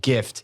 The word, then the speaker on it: GIF: Obama himself self says it's pronounced GIF with a hard G yeah but he was